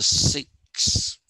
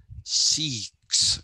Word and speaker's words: Sikh: the properties of the six seeks i'm sorry not six seek is how it is to be pronounced s i k h